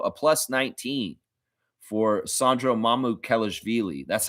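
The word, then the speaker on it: Mamukelashvili: A plus 19 for Sandro Mamu Kellish Villi.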